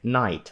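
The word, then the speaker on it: knight: Це також читається як night. Отже, ось ця перша літера K. Якщо, до речі, стоїть K перед n, в більшості слів це буде глухай. Ви її не вимовите, ви все рівно скажете,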